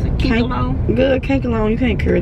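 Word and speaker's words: Kanekalon: Well, that's how you pronounce it. Cankalone.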